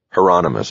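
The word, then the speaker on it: Hieronymus: Heronomous, Bosch said.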